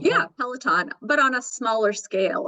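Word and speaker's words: Peloton: that p peltin uh is that how you pronounce it Pelon yeah pelaton but on a smaller scale if you were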